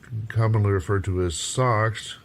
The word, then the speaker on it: SoX: And it's called, the project is named Sound Exchange with the emphasis on the X part. So it's commonly referred to as SoX, spelled with a capital S and a lowercase o and a capital X.